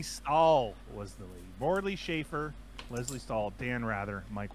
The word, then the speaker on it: Safer: And there's no H in it. It's spelled Safer, but he says Schaefer.